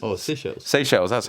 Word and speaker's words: Seychelles: How do you pronounce it? It's Seychelles. Oh, Seychelles. Seychelles, that's how you pronounce it.